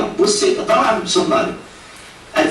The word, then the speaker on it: buceta: Ele vai dizer à aluna que a pronúncia é buceta, buceta, e que buceta tem o significado de caixinha pequena.